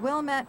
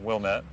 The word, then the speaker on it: Wilmette: Craig's home, which originally housed the landscape business, is on a busy street in Wilmette, Illinois.